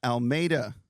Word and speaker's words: Almeida: state championship coach three-time state champion coach Almeida did I say it right yes she did